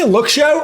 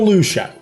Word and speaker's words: Luxio: Okay, so do you say Luxio or Lucio? Because I've always said Luxio, and the weird thing